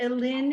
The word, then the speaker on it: Elin: Yeah, so my last name means forest in Denmark, and Elin is the Danish pronunciation of Ellen.